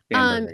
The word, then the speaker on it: Spanberger: Spain Spanberger? Spanberger, yeah. She's doing a rebuttal.